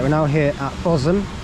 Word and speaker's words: Bosham: we're now here at fosam it's actually pronounced possum which I didn't realize